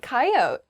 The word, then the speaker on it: coyote: next word is coyote I say coyote how do other people say this word K coyote oh yeah coyote I don't say that a coyote is